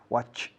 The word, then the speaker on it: watched: La che más sonido de T. Watched, watched, watched.